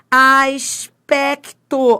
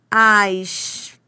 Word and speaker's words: aspecto: Bom, primeiro, primeiro, primeiro veja se você pronuncia todas essas consoantes. Você pronuncia todas, ó, aspecto. Sim, você pronuncia o S, pronuncia o P, pronuncia o c, pronuncia o T.